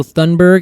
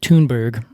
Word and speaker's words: Thunberg: pinus thundbergiai funberg yeah do you know thundberg I think actually they might pronounce it toonberg is it German Swedish